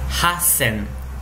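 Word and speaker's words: 八千: Mas 8.000 ficaria hassen. Hassen, com 2 S.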